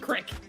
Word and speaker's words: creek: Creek, but it's pronounced crick.